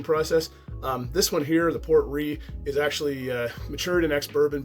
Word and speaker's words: Port Ruighe: But I can assure you guys that it's pronounced Port Ruighe. And the Port Ruighe, like I said, is finished in port wine casks, and it comes in with an ABV stamp of 45.8%.